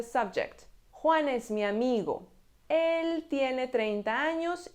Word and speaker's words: él: For "Él", we have an accent on the E, "Él", "He". If there's no accent, then it is a masculine singular article.